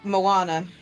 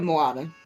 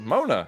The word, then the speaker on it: Moana: N A oh yeah I kept saying it wrong cuz I was like Mona everybody like what no